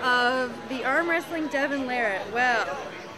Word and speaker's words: Larratt: It's spelled L-A-R-R-A-T-T and pronounced Larratt, not Larratt, and all the other ways that people always end up saying it.